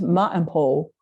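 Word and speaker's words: Maenpaa: name is m-a-e-n-p-a and then Finnish it would be pronounced Ma and pole but I think they angle sized it to something that was probably mainpal but I'm not sure how it was pronounced but it was in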